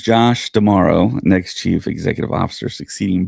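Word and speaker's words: D'Amaro: Tomorrow. Tomorrow. Tomorrow. Okay. Tomorrow. Okay. And there's a story that comes to us from Star Wars that I'm going to read here. Uh, Disney names Josh tomorrow next chief executive officer succeeding Bob Iger.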